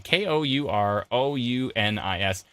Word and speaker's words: Kourounis: How do you pronounce his last name? Kourounis.